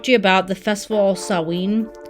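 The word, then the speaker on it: Samhain: going to talk to you about the festival sawing sawin okay it's spelled really weird but it's pronounced sawin like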